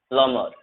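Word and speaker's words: plumber: बी जो silent होता है जब एम के जस्ट बाद आप बी देखोगे तो बी साइलेंट होता है, ध्यान रखना।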